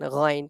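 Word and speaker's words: غ: to say Kha and Ghain perfectly according to the Arabic rules. So kha and ghain, the point of pronunciation, the sound of kha and ghain comes out from the top of our throat.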